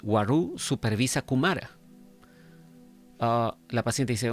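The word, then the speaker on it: Waroo: La paciente responde, sí, excepto Wa-Ru. Este es otro nombre, ¿no? Se escribe W-A-R-O-O.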